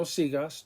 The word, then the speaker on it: sigas: However, in no sigas, the A after the G makes the G a hard G sound. So no sigas, don't continue.